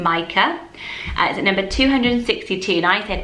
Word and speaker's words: Micah: got wrong last week which is the name Micah at number 262 nice ed mica and a lot of you said is it me is it my Kurt most mums with this name that say Micah so obviously that is correct that's how he